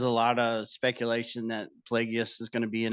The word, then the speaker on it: Plagueis: say his name right that's like Worcestershire sauce Plagueis yeah Plagueis so Yoda there's a weird l in there um I think so